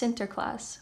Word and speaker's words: Sinterklaas: In Dutch, Saint Nicholas is pronounced Sinterklaas, which became the inspiration for the name Santa Claus.